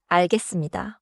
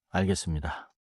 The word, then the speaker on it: 알겠습니다: First a teacher gives a deadline 금요일까지 내세요.네 알겠습니다. in that example.네 알겠습니다. sounds respectful and clear. short answer good tone. Pronounciation note. 알겠습니다는 자연스럽게 알겠습니다처럼 들려요. 하지만 쓸 때는 알겠습니다로 써요.